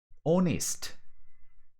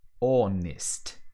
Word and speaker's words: honest: that h's are not that often to be pronounced so let's try to do these words just to train our visual part honest honest this is a favorite one how many times